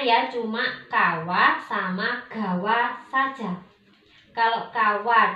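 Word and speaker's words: 川: Kanji sungai apabila dia berdiri sendiri, maka kita membacanya dengan kawa. Kawa itu artinya sungai. Tapi kalau sungai tersebut punya nama, maka kita bacanya gawa. Contoh, sungai Amazon. Amazon gawa. Kalau dia berdiri sendiri kan kawa. Kalau ada nama sungainya maka kawa itu berubah menjadi gawa.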